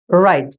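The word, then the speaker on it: write: এখানে W silent সঠিক উচ্চারণটি হল রাইট।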